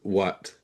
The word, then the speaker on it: what: The other question words will have that wah sound, the H is silent, what, when, why, where, what, when, why, where.